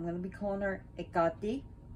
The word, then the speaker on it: Hekate: to be calling her ekati so i know some people call her hectae her caked her cat paquette that's up to you but i'm just saying it's wrong i guarantee if you